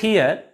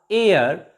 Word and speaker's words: heir: h is also silent here and h e i r air not here honorable not honorable pay